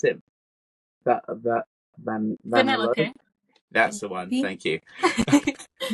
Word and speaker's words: Vanellope: How do you pronounce it? Vanellope.